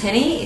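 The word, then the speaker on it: Jenny: started to do this experiments with how you spell that name hence Henny it's a h n s yes Hy is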